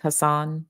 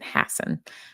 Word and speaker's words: Hassan: it Stephen Hassen it's it looks like Hassan but he pronounces it Hassen um his first book